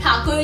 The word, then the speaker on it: ठाकुर: Actually जब Britishers India पर rule कर रहे थे, तब वो ठाकुर को अपने ब्रिटिश एक्सेंट में प्रोनाउंस करते थे एज ठाकुर, ठाकुर। So from that he was also known as Rabindranath Tagore, but he belong to अ ठाकुर family.